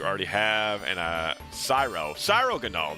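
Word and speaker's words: Cryogonal: Cyro Ganol. That's That's how you say it cuz it's like cyromancy, something like that.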